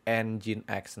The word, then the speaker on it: nginx: Bacanya nginx.